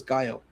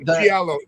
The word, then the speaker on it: giallo: I always thought it was Gallo. But anyways, it doesn't matter. Giallo. Giallo means yellow in Italian.